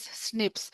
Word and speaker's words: SNP: Single nucleotide polymorphism can also be pronounced as snips.